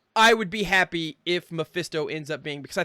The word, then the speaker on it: Mephisto: painting that looks like maybe it's mafesto i mean mephisto also we got that wrong last week it is mephisto i watched so many